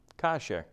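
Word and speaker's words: כשר: Kasher, right? Remember, the second syllable is a little bit quick because of the Shabbat there.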